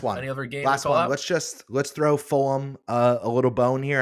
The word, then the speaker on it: Fulham: Fulham. It's uh it's wacky wacky times here. It's like it's like you're teaching your kids how to, you know, annunciate words. Full. It's It's daddy. It's pronounced Fulham.